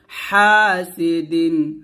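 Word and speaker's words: حاسد: ওয়া মিং গুণা করবেন, ওয়া মিং শাররি, হা হাতে চাপ দিয়ে বলতে হবে হাসিদিন হাসিদিন।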